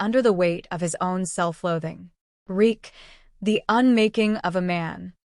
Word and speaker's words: Reek: Reek, I'm Reek. It rhymes with weak, he reminds himself again and again.